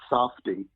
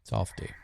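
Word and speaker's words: Safed: Now, there was a province in Israel called Safdi. It's spelled like a safe, S-A-F-E-D. It's pronounced Safdi. Safdi.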